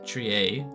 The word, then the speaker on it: trier: But did you know that the word triage is from a French verb pronounced trier, which literally means to sort or select?